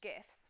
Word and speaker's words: GIF: Well, GeoCity sites were famously covered in GIFs with a hard G.